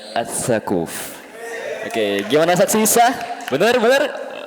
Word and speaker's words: Ats Tsaquf: Nggak tahu cara bacanya. SHAQAF. Sakuf apa sakuf ya? Sakuf. Sakuf. Tipu berarti tadi. Hah? Dil. Yakin. Amin. Selamat. Iya. Survei membuktikan. Jadi nama pemateri kita adalah As-Sakuf.